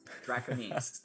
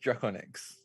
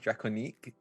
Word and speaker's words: Drakoniques: to the illustrious josh simons and the remarkable draconis did i say that correctly drac uh it's just draconics uh reconyx honestly you're good because i made